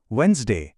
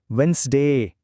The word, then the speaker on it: Wednesday: వెన్స్డే, ఖేయాస్, genre. తేడా గమనించారు కూడా? ఇప్పుడు నాతో పాటు చెప్పడానికి ప్రయత్నించండి. వెన్స్డే, ఖేయాస్, genre.